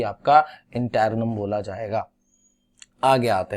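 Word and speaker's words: interregnum: ठीक है, इंटैरनम, जी is silent, इंटैरनम बोलना, इंटैरगनम मत बोल देना।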